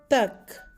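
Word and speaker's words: तक: The soft sound of thunder, that is th, it's not th, it's th, and kite k joins to make tak, tak. We pronounce this as tak.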